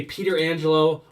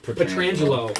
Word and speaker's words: Petrangelo: guys in League that either say Peter Angelo or Petra Angelo they say this two words right instead of petrangelo yeah but there's a